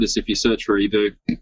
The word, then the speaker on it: Hiboux: you search for ebu you probably want to spell that out for people who will be listening to this later french words it's h-i-b-o-u-x yep fantastic cut the vowels off and you've got french there you go that's that's